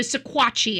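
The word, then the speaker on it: Sequatchie: So Squatchi I think is the proper pronunciation.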